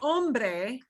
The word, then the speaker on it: hombre: that there is no matter where the h is we act like it's not there and here's a word that is not ombre it is so you are extremely misunderstood if you pronounce this word as bad hombres yes that makes no sense any spanish speaker they're like how what the heck are you talking about ambre means hunger okay